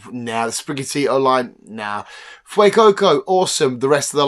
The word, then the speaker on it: Fuecoco: 6 is my lovely Fuecoco.